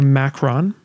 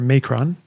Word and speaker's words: macron: This line, which is called a macron, or a macron, depending on how you say it, this line indicates that we're dealing with a long vowel.